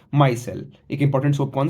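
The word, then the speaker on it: micelle: इसको बोलते कैसे हैं? मायसेल। इसका ये है। प्रोनंसिएशन है मायसेल। ठीक है?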